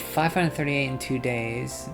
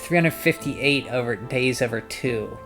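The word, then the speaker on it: 358/2 Days: By the way, it's pronounced 358 days over 2. Okay, 358 days, but there's no days, it's just 358.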